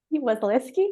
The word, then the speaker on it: Wasylewski: And with me today, I've also got the beautiful Tanya Wasylewski. Wasylewski, yes. I always pronounce it wrong. You're not the only one. It's a bit tricky, and it's not really.